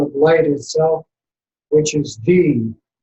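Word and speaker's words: dhi: These 3 together in a rainbow colored sphere of light, transformed into the sound of light itself, which is D. It's spelled D-H-I.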